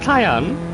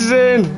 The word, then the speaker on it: Zane: Is it Kyan? Or Kane? Because I was thinking of like Mortal Kombat Kane. It's spelled Z. Oh! Oh, you battered me head then. Yeah, it's Zane. What?